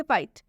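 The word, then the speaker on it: fight: Next example देखिए फाइट। फाइट में भी जीएस टी आया है लास्ट में। इसलिए इसमें भी जो ये एच है उसको साइलेंट कर दें। एच का उच्चारण नहीं किया जाएगा।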